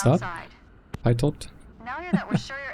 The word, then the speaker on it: pitot: I have no idea And how we're to done pronounce the that. outside. Pitot.